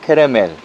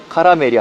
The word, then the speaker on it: כרמל: 갈멜산은 히브리 발음으로는 케렘과 엘, 그래서 케레멜, 카라멜이 아니고 케레멜, 카라멜.